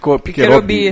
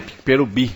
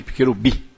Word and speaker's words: Piquerobi: Não, foi só a pronúncia que foi errada, que ele falou Piquerobi, e é Piquerobi. É só mudar, só o acento que foi colocado errado. É porque o acento no último I, Piquerobi.